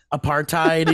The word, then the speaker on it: apartheid: And on the Wikipedia page, it says it's pronounced apartheid.